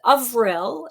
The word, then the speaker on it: Avril: name again please so it is pronounced avril and it's french for april oh i love that